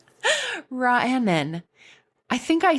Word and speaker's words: Raanan: Every time I look at it, I want to say Sarah Raanan, but she told me how to pronounce it, and it is Raanan. Raanan.